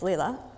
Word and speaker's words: Leila: very masculine thing and correct the pronunciation of my name which is Leela so last year the